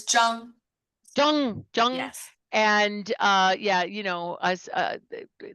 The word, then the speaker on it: Zhang: Zhang? It's Zhang. Zhang. Yes. And yeah, us, white women want to just pronounce it, any way they want to.